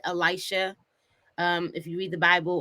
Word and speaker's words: Elisha: So my name is Elisha. By spelling and pronunciation is Elisha.